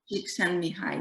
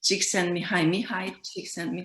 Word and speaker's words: Csikszentmihalyi: a very difficult surname, which is challenging to pronounce. Csikszentmihalyi is his surname. Csikszentmihalyi is his name.